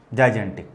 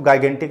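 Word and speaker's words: gigantic: इसकी स्पेलिंग एक बार आप लोग सही कर लेना, जाइजेंटिक, ठीक है। तो इसको गाइजेंटिक नहीं पढ़ते, जाइजेंटिक पढ़ते।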